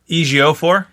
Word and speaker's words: Ejiofor: Chitwell Ejiofor? Chiwelte Ejiofor. Ejiofor. Yes, thank you. I still can't do it, but Christopher Lambier, that could be my flex. Lambier. Chiwetel Ejiofor.